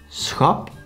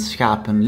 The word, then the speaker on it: schap: So the first one, schap, consists out of one single syllable with a short written vowel, so we pronounce it short.